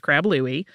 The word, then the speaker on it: Crab Louie: with either spelling and it is pretty much always pronounced Crab Louie it starts with a